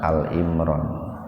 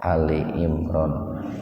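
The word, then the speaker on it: آل عمران: pada kesempatan membahas Surat Ali Imron ayat 10 jadi membacanya bukan Al Imron Ali Imron halaman 51 ayat 10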